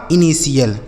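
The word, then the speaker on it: initial: तो आई एन आई हो जाएगा इनी और टी आई एल हो गया सी एल यह लिखा गया आपका इनिशियल समझ गए आगे पी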